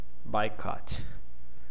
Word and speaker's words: boycott: too boycott by Cut by cut. Okay, here we have a stressed syllable by cut. Okay, the pattern of pronunciation. Major stress, minor, minor stress.